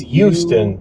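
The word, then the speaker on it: Euston: up to Houston Station and which is not spelled with an h no it's not it's it's Houston not Houston um e e s something it's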